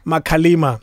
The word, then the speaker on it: Makalima: Makalima. Yeah. Because it's Xhosa, it's melodic.